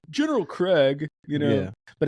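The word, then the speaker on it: Kregg: would have pronounced it Craig based on how it's spelled but I'm glad he said his how to say his name General Craig you know but it's great to hear Clancy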